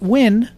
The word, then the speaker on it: Nguyen: when you pronounce it you have the n and the g silent so you really just pronouncing the u n uh there you go